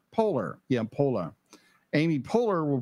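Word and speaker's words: Poehler: personal personalized emotions um Amy how do you pronounce her last name Polar Polar yeah po Amy polar will prize her um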